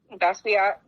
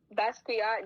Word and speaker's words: Basquiat: Oh, I can't pronounce that. Basquiat. Say it again. Basquiat.